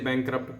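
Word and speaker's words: bankrupt: बैंकक्रप्ट, बैंकक्रप्ट, देखिए ठीक है, बैंकक्रप्ट, आर साइलेंट होता है इसलिए बैंकक्रप्ट पढ़ते हैं।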